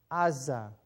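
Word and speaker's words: עזה: goat but this one ein sein hey is red i in with an ah sound ah sein with an ah sound za and a hay with no vowel which gives you a silent letter aza is the hebrew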